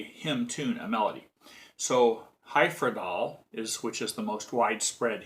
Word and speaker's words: Hyfrydol: By the way, it's a Welsh word, and I read that it's pronounced HYFRYDOL, not HYFRYDOL, but we generally call it HYFRYDOL.